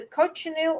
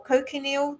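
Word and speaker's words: cochineal: um some foods will say this has the coil or cocal depending on how you pronounce it c c h i n e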